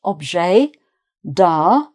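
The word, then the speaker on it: objet d'art: So again, the T of both is not pronounced object da.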